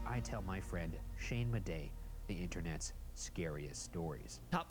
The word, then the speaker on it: Madej: I believe that's pronounced Shane Madej. I don't know why he didn't pronounce the last letter there.